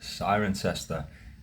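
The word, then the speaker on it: Cirencester: in this place 10 points if you can pronounce it it's siren sester in Southwest England now today I want to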